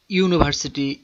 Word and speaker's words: university: These words university, union, one begins with a consonant sound, that of you or wa.